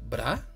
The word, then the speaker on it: Bra: Bula finalmente nace en Super, pero espera, ¿su nombre es Bra o Bura? Bueno, en japonés Bura porque la L no existe en su pronunciación, pero no te apures, llamarla Bra o Bula es correcto, no hay diferencia.